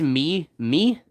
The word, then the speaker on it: meme: it's it's a meme that the final e is silent and the other e becomes e because if it were M if it were m-e-m it would be mem so m-e-m-e is meme